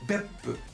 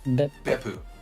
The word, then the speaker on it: Beppu: For example, there's a city in Japan called Beppu. It's not Beppu. It's Beppu.